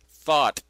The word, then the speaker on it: Thoth: Thought is the Egyptian god Thoth, the creator of almost every activity known to man. Thought is spelled T-H-O-T-H.